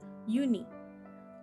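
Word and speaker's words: Unhei: it's spelled u n h e i it's pronounced uni oh it's you hey the boy said like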